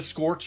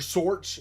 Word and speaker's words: Sorch: The Scorch units? Or Sorch. It's not Scorch, it's Sorch, S-O-R-C-H.